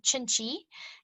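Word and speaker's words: cinci: launch an entry-level brand it's called chinchi it's spelled c-i-n-c-i it means a little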